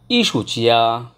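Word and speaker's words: 艺术家: ইসুচিয়া, ইসুচিয়া, দেখেন এটা হচ্ছে ফোরটন ই, এটাও ফোরটন, বাট দুইটা ফোরটন যখন কাছাকাছি থাকে প্রথমটা অটোমেটিক্যালি সেকেন্ড টোন উচ্চারণ করতে হয় ই, অর্থাৎ ই সু, ই সু চিয়া টানতে হবে, issue chia, that's mean artist.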